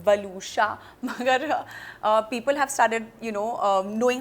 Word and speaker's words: Waluscha: My name is also not very easy to pronounce, वलूशा, मगर people have started knowing how to pronounce the name.